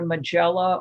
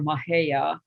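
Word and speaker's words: Majella: it given different names it's either magella or mahaya m m-a-j-e-l-l-a um i guess whether it's a spanish or some other pronunciation and this is one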